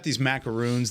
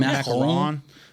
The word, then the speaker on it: macaron: Is that how you say it? Macaroon. Macaron. That's how you say it. What? Macaron. Okay. That's how you say it in French.